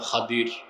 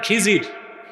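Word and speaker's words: خضر: এক বান্দা, তার নাম খাদির। খাদির তো বুঝেন নাই, যাকে আপনারা বলেন খিজির, ওনার নামটা কি? খাদির, বিফাতহিল খা ওয়া কাসরিদ দাদ, খাদির। আমরা বলি খিজির, এটা ভুল উচ্চারণ। শুদ্ধ উচ্চারণ কি? খাদির।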